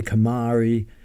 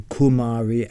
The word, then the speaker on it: Kumari: because the goddess she the Kamari or the Kumari as they pronounce there two ways of pronouncing it the Kumari can